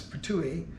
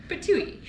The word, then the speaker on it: Ptuj: seeing these signs for this town, which seems impronounceable. It's Ptuj. Ptuj.